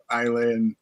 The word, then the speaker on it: Islay: Because there's an S there that you don't pronounce.